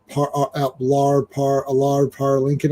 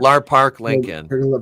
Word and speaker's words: Lar Park Lincoln: Um, Lar Par Lincoln. I can never say her name. Lar Park Lincoln.